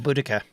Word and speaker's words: Boudica: Oh, Boudica, or That's her Boadicea, name, depending on yeah. whose pronunciation Well, I you was hear. gonna say Boudica. Yeah, Boudica is the more modern pronunciation.